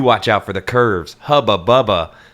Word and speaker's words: Hubba Bubba: Hubba bubba. But Hubba Bubba is spelled like tuba, so it looks like Hooba Booba.